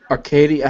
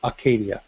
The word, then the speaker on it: Acadia: ah Arcadia okay okay I was only emphasizing the a to deemphasize the r there is no R so it's Aradia I put I kep